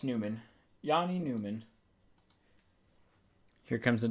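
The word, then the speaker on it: Nyman: I'll double check the uh NHL pronunciation guide, but I believe it's Newman. Yeah, it's Newman.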